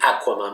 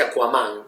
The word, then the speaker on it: Aquaman: En realidad, no va a decir Aquaman, va a decir Aquaman. Nosotros solemos enfatizar la última sílaba, pero Aquaman, pobrecito, en un momento no tenía revista.